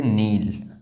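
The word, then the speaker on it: kneel: तो कनील नहीं बोलेंगे इसको बोलेंगे नील।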